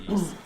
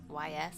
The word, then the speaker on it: Ys: Another one is Yeast, like Y, capital Y, small s. I believe it's pronounced Yeast. Some people call it Yeast, some people call it YS.